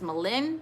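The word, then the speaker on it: Maligne: So what national park is Malin Canyon found in? And Malin Canyon is spelled M-A-L-I-G-N-E. So Malin Canyon.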